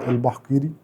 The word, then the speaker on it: البحقيري: تعريف بسيط عني، انا اسمي البحقيري. كويس انتوا بتنطقوا الاسم صح عشان ده عامل مشاكل اصلا.